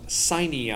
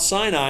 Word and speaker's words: Sinai: is Mount Sinai which or in some of the songs that I've sung signee I is the way they have you pronounce it but it's Mount Sinai and it's and that